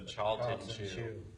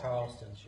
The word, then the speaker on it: Charleston Chew: Massachusetts is actually suing the Carolinas for stealing the candy that they always liked, which was the Charlton chew. That's Charleston chew.